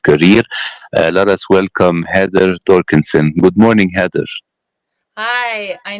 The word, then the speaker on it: Doerksen: Yeah, it's German and Dutch, so it would have been there would have been an umlaut over the O, so Doerksen would have been the Dorksen.